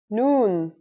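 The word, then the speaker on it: ن: The noon is pronounced just like the English N.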